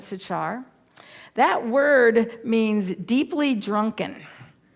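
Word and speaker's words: Sychar: the city of and i may not pronounce this white right sachar that's how i've always known it sachar that word means deeply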